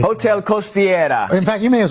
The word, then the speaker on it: Costiera: Jesse, give me the pronunciation. Hotel Costiera.